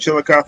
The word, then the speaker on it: Chillicothe: Is that how you say it, Chillicothe?